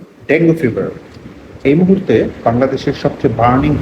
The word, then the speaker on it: dengue: যদিও শুদ্ধ উচ্চারণ হলো ডেঙ্গি ফিভার, কিন্তু আমাদের সমাজে প্রচলিত রীতি অনুযায়ী যেহেতু এটা ডেঙ্গু ফিভার নামে প্রচলিত এবং পরিচিত, সুতরাং আমি এই ভিডিওতে ডেঙ্গু ফিভার শব্দটি ব্যবহার করব।